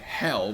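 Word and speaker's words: H377: get to songs like hell which is pronounced H 377 kind of like kind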